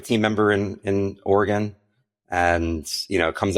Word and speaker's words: Oregon: Most people say Oregon or something like that. So I've been working on it. Like we have a team member in in Oregon and you know it